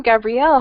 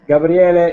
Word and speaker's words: Gabriele: but that is okay gabriele is the italian pronunciation of my name ah gabriele exactly okay